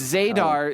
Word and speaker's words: Zadar: 89 oh good yeah hell Zar it's zadar it's spelled z a d a r exclamation point cow from